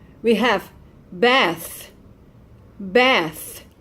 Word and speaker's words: Beth: We have Beth, Beth, like Elizabeth, okay? Beth, it's that sound, the voiceless, okay? Like think and truth. Beth.